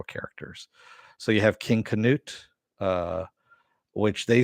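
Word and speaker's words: Cnut: word um but it's spelled con it's it's pronounced couldn't it knut yeah and he ended up becoming the ruler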